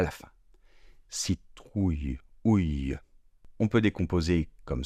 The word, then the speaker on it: citrouille: Donc je répète, citrouille, citrouille. On voit écrit un I et pourtant on n'entend pas de I.